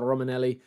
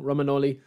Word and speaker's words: Romagnoli: You've got Savage, you've got Immobile, you've got Luis Alberto, and you've got Romanelli. Romagnoli, I'll get killed for pronouncing him wrong, Romagnoli.